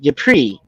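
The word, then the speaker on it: Ypres: keep staying in my mind and it's called yupri and it's spelled y r or excuse me y-p-r-e-s yupri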